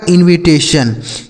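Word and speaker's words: invitation: अगला शब्द है आई एन वी आई टी ए टी आई ओ एन। तो आई एन से दोस्तों हो गया इन। वी आई से दोस्तों हो गया वी। टी ए से हो गया टे। टी आई ओ एन से सन हो गया। यही लिखा गया आपका इनविटेशन।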